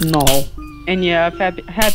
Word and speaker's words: Null: also whenever you say null's name it's not n it's null okay and trust me